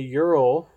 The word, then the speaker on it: Ural: Ooh, I can get a Ural, that's how you say it, for 2007 Ural Patrol for $5,600.